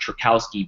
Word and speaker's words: Trajkovski: it's way cooler uh my last name looks a little bit funky and uh it's it's actually pronounced trakowski but I make it